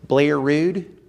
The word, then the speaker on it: Bel Air Road: you don't understand that that's how people pronounce Bel Air Road is Blair Road, they're going to say this guy doesn't understand my community.